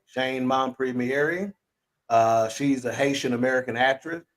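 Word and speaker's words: Shein Mompremier: was the one and only Shane and it's pronounced Shane mom premiering Shane mon Premiere uh she's a haitian-american actress actress best known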